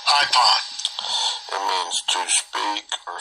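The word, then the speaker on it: εἶπον: It says, he said, and that comes from IPON, EIPON 2036, this word. Strong's G 2036, IPON. IPON.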